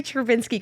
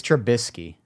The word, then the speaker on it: Trubisky: lord I want every travinsky card in existence is that how you say his name it's trubisky it is trubisky right trubisky yeah yeah I'm